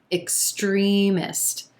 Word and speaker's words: extremist: number 19 extremist extremist so we've got three syllables here and our emphasis is on the second syllable and the e as in green vowel sound extremist careful with that letter x the letter x is gonna sound like two consonant sounds coming together here it's going